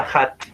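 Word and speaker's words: ADH: es h a d en medicina se escribe no HD pero se pronuncia hat nosotros decimos hat la hormona antidiurética doctor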